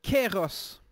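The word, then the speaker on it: καιρός: Quant à la signification du mot « temps » dans le passage, en grec, il se prononce « kéros ».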